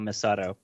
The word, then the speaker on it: Misato: kidding them anime titties why do you keep pronouncing it misoto would not misato uh cause i'm white